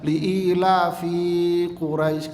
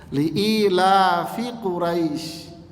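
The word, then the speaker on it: لإيلاف قريش: ini berbunyi liila fiquraisin liila fiquraisin Hai jangan kebablasan bacanya sering saya mendengar orang baca liila fiquraisin kebablasan Vanya pendek liila fiquraisin Hai kalau diterjemahkan di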